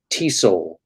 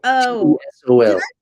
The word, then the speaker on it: TESOL: Do you say all those letters, or do you say TESOL? Oh. TESOL. Did I put MAT sol in there? The whole thing. Yeah, just say T sol. That's fine. A master's in TESOL from the University of Southern California.